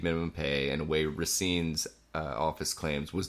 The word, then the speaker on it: Racine: So they the DC Attorney General Carl Racine, I believe is how it's pronounced.